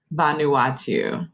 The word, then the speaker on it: Vanuatu: to make sure i get that correct vanuatu vanuatu yes vanuatu okay i might actually one more